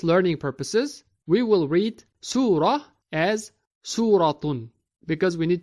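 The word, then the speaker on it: سورة: in while in speech when we stop at ta marbouta we pronounce it as ha example we write it as su suratun but say it as surah trading is but when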